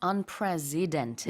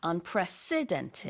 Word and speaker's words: unprecedented: And you have to stress the s sound in the middle. Yes. It's not unprecedented, Yes. but unprecedented.